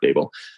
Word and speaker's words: Babel: syntax tree of the the babble tool or Babel to well I think it's pronounced Babel and it's all about